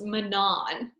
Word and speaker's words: Manon: into probably my favorite sarah moss said it's pronounced manon and i just could